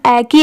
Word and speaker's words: echo: तो देखिए इसमें पढ़ते टाइम एच साइलेंट होता है, इसे क्या पढ़ा गया है, ई की साउंड ए की आ रही है और CO को, तो इसे क्या पढ़ा गया है एको।